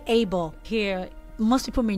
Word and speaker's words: Abel: in the bible okay so you don't say a bell you rather say able so is kane and abel all right all right